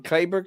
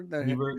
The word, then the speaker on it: Cleburne: He is the Republican candidate for Justice of the Peace in Clayburgh County. In And that's Cleburne, actually, huh?